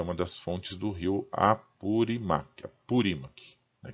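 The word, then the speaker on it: Apurímac: das fontes do Rio apurimac purac né Tem um um acento no i desce assim a pronúncia que por sua vez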